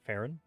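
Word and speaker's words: Faerûn: One, I think it's weird how they pronounce Faerun. They pronounce it Farron.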